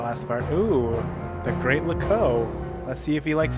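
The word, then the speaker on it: Loucaux: wrong now what's wrong lco doesn't really rhyme with Bordeaux it's spelled completely differently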